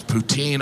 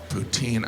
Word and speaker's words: poutine: Poutine. I know some of you pronounce it poutine, but you're still saying poo.